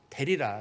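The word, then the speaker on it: דלילה: 사실 , 델릴라 라는 이름 은 발음 하기 가 조금 까다롭습니다 . 한국어로는 " 들릴라 " 입니다 . 히브리어 로 는 " 델릴라 " 입니다 .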